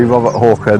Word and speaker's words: Robert Hawker: his gun obviously call me Robert Hawker the deer stalker because it rhymes he stayed for seven